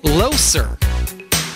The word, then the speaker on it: Loser: loser not even lying it's pronounced low sir but nobody nobody sees low sir when they read the word loser right so her married